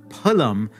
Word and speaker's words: phalam: the labials is that Sanskrit doesn't have a F sound, that P is always pronounced like all the other sounds in the class, with the two lips touching each other, not the teeth involved.